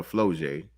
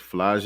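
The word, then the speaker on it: Flau'jae: I've been calling her Floje, but I think it's Flage is how you pronounce her name.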